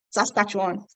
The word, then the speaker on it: Saskatchewan: A lot of people ask me, how do you pronounce that? Saskatchewan.